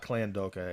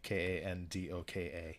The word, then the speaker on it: Kandoka: There's no L's in it at all. It's not Klandoka. It's definitely Kandoka.